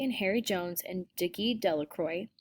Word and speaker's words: Delacroix: harry jones and dickie delacroix the villagers pronounced his name de la croix eventually made a great